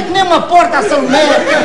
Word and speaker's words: Salomé: Por exemplo, Salomé é que é aguda. Olha, a Salomé, a tua Salomé é a vizinha mais estúpida que eu tenho lá na rua. É burra que nem uma porta, a Salomé.